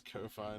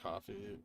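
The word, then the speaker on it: Ko-fi: to bounce off vwap it is Kofi not coffee how I don't care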